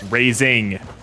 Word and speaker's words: Raising: what he's talking about raisin not raisin but raising but without the G no there's no G